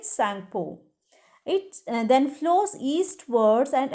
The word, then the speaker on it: Tsangpo: उधर जो Sangpo कह जाता है, लेकिन उसका जो स्पेलिंग है TSANGPO. Okay, correct spelling you have to write, but you have to pronounce it Sangpo.